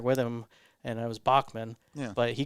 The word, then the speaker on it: Bachman: He had another singer with him, and it was Bachman. Yeah. But he called him Backman. That's So right. I guess in Canadian they pronounce it a little Backman differently. Turner Overdrive.